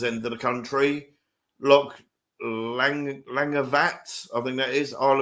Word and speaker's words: Langavat: Oh, they've give you the English spelling because it's BHAT. Right. So it would be pronounced Langavat. Similar-ish. So, because BH is V in Gaelic.